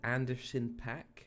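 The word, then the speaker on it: Anderson .Paak: Park album good the Anderson pack album what Harrison pack Anacin pack like Anderson Anderson ha Anderson like the name Anderson and then pack spell it spell period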